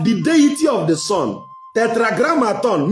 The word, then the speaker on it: Tetragrammaton: Tetragrammaton, meaning represent the deity of the sun in 4 syllables.